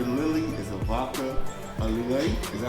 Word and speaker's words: Lillet: The Lavender Lily is a vodka, a Lillet. Is that how you pronounce that? Lillet.